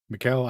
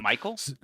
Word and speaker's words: Michael: I don't know how to pronounce that. But anyway, Mikuel Aayaken, uh, Michael.